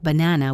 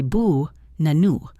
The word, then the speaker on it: banana: In a word like banana, we do not say ba nana. We say bu nanu. The first and last a become schwas.